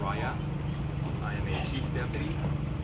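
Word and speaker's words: Raya: e o f f the last name is r a y a Rya I am a chief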